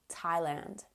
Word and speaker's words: Thailand: TH words that don't sound like TH at all.